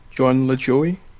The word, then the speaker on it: Lajoie: so Jonah that yep I think it's pronounced Jon Lajoie that is correct another point to Jonah